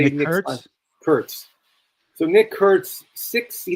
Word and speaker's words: Kurtz: Curts.